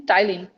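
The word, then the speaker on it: ptyalin: हम क्या कहते हैं, टाइलिन। जिसका स्पेलिंग है पी, पी से स्टार्ट होता है, पी साइलेंट होता है, PTYLINE, PTYLINE, Tyline, or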